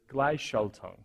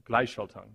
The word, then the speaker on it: Gleichschaltung: And the Germans have a word for this, and they know it quite well, and it's, I'm really bad at pronouncing it, but it's Gleichschaltung, or Gleichschaltung. It means synchronization between private companies and the state.